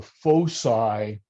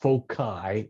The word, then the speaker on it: foci: Remember, I said there's something called the foci, or sometimes pronounced foci, F-O-C-I, on the longer axes.